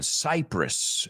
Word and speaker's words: Cyprus: So that's our first one, Cyprus, we say. Muchos a lo mejor lo conocéis por Cypress Hill, un grupo pero se escribe diferente, pero se pronuncia igual, pero no tiene nada